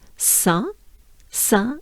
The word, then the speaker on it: Saint: for this stage so saint in french is song again and then we have